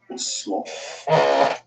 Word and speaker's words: Oslo: guys are from uh I'm in Oslo or the way the locals say oh slow we just landed here